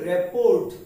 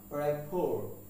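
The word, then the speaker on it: rapport: পি ও আর টি আমরা একে উচ্চারণ করছি রেপোর্ট উচ্চারণ কি করে থাকি রেপোর্ট কিন্তু এর উচ্চারণ রেফোর রেফোর রেফোর কখনো কখনো রেফো আর টাও আসে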